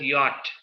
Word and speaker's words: yacht: a little Nursery kid Because the actual pronunciation is yacht all right we can't